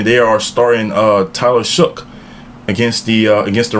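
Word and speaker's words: Shough: And reportingly they are starting uh Tyler Shook against the uh against the Rams against the Rams this week.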